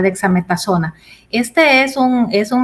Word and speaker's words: dexametasona: gracias luis así el su pronunciación estuvo bien cerca dexametazona este es un es